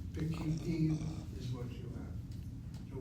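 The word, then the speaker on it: פקידים: The kamatz reduced to a shvana, and the accent will now be on the last syllable, and the chirik following the kuf is now part of an open syllable. Pekidim is what you have.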